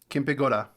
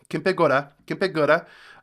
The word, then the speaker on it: Kempegowda: Kempegowda the Kempegowda. Kempegowda.